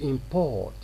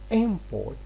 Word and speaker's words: import: word here this word if it is a verb we have to pronounce it as to import in this way we stress the second syllable but as a noun we say an import so we are stressing